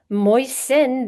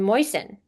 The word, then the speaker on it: moisten: And we can see if you look in the case of moist moisten, there's no t sound in moisten.